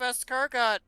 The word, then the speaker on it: escargot: I got that that big giant plate of escargot uh you guys want to share it with